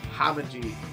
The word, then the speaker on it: Hamaji: Hamaji is how you pronounce that.